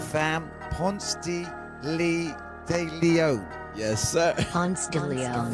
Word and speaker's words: Ponce de Leon: Let me get the pronunciation right, fam. Ponce de Leon.